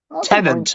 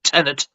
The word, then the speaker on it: Tenet: its full potential was Tenet, unfortunately. Tenant, not Tenet. Tenant. Tenet. That's how it's pronounced. Tenant! As in you are a tenant in a fucking house.